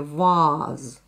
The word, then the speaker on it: vase: А сейчас мы слышим в слове «ваз» совсем не короткий звук «а», мы слышим длинный звук «а».